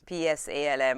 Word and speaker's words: Psalm: As in P-S? P-S-A-L-M. I know, I have to kind of check how to spell it as well. Psalm. And then, his name is Sam, as in hallelujah.